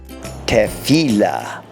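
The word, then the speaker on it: תפילה: Hebrew noun for prayer listen carefully Ted C la the first letter is the table and it makes the sound as in taco it has the Sheva under it so you have a short a together they make the test sound the word is the noun for prayer tefillah let's review everything covered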